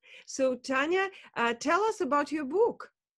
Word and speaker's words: Tania: In English, it's Tania. Now you say it. Tania. So yeah. Tania, I will stick to the Russian pronunciation. So Tania, tell us about your book.